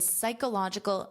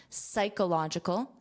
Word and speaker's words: psychological: In a study published earlier this year in psychological science. So notice the pronunciation of this that P is silent. You hear the S. Psych. Psych. Psychological.